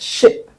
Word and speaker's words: ship: A lot of people will say the sheep from the sea. The sheep captain. When you say that, you cause confusion because you're using the sound for the animal to apply to the vessel on the sea. So it's not sheep on the water, it's ship.